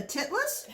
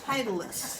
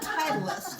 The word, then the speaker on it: Titleist: She goes, "A titless?" Titleist is how it's pronounced. Titleist.